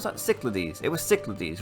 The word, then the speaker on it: Cyclades: Cyclades, that's how you pronounce it.